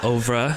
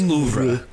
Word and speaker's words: oeuvre: How do you say that? Oeuvre. I was wondering, Louvre. I think it's oeuvre.